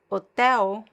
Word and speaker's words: hotel: But then if I have the L at the end of a word like hotel, the L is pronounced as a weak ooh sound.